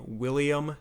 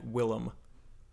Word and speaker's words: Willem: mention the fact that you pronounce his name William Dafoe when it's in fact Willem so you serious yeah